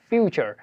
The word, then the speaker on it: future: যেমন আমরা ইতিপূর্বে শিখে আসছি হয়তো, যেমন FUTURE যার উচ্চারণ হচ্ছে ফিউচার।